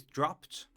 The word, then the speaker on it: dropped: of these uh sounds then the ed is t so uh we have words like laughed boxed faced and pronounced and in this uh conver in this text there is dropped and missed Um, so the rule